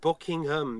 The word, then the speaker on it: Buckingham: It's pronounced Buckingham. If you're trying to go for a British accent, pronounce it like that.